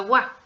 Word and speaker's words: は: la acción Recuerda que el hiragana Ja se pronuncia Wa cuando Está realizando la función de partícula de sujeto tenemos eso no es